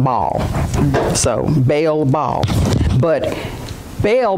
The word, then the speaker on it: Baal: Well, I looked up the pronunciation, they called it Baal.